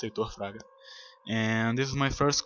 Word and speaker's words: Heitor Fraga: Hello everyone, I am Heitor Fraga. By the way, that's how it's pronounced, Heitor Fraga.